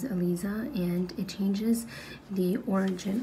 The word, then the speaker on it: Elisa: from the right now common mistakes on how people pronounce my name is a lot of people call me Eliza and honestly that's not how you pronounce my name because my name is ELISA and it changes the